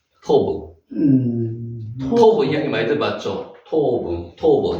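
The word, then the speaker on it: טוֹב: 거기에 토브가 나옵니다. 베트입니까? 예. 아니 이게 부잖아요. 예, 기업 발음이지. 기업 발음에 이가 가는 거지. 여기 오 발음이잖아요. 토브. 이거는 티읕. 그렇지. 오 발음. 그러니까 토브.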